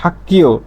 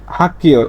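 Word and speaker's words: 학교: তাহলে এখানে গ না হয়ে এর উচ্চারণটা হয়ে যাবে কি? সাংগিয়কের ক, সাংগিয়কের ক। তাহলে এর উচ্চারণটা হবে হাক্কিও, এর উচ্চারণটা হবে কি? হাক্কিও। লেখা থাকবে এরকম, কিন্তু উচ্চারণ করবেন এভাবে, হাক্কিও।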